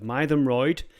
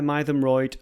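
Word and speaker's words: Mytholmroyd: we're going near the towns of Mayroyd. That's how you pronounce that, as far as I'm aware, Mayroyd and Hebden Bridge.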